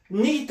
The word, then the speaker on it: nicht: 그 다음에 이제 독일어에서요, nicht 하면 영어의 not에 해당하는 겁니다. 아니다, nicht 할 때도 이걸 쓰면 정확하게 nicht 이렇게 하면 됩니다.